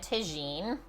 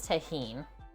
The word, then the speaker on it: Tajin: I've always said tagine, but like the J is silent, right? Or it's like an H. So it is tahine.